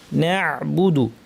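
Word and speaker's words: نعبد: ভালো করে চেপে দিয়ে বাতাস বন্ধ করেদিয়ে আইন উচ্চারণ করতে হবে না বুদু ইয়াকানা বুদু আচ্ছা এরপর আরেকটা এখানে আইনটা আমরা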